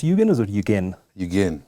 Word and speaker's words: Yugen: Now, Yugen, it's pronounced Yugen, or is it Yugen? Yugen. Yugen.